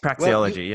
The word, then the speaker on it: praxeology: Is that how you pronounce it? Okay. Praxeology, well, yeah.